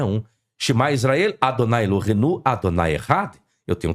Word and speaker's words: Adonai: Então está o tetagrama, mas como é que eu pronuncio? Adonai.